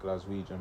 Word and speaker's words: Glaswegian: sure that is actually how you say it glaswegian but a guy from Glasgow who actually got